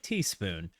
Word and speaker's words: TS Spoon: Recall TS Spoon or Teaspoon. Oh, pronounced like Teaspoon.